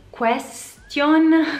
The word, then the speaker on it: question: Question, question, come si dice? Secondo me il suono che risulta più simile è question, question, question.